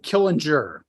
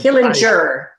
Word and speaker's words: Killinger: us at Sig University so am I pronouncing your last name correctly uh Killinger but Killinger okay it's close enough for government work we're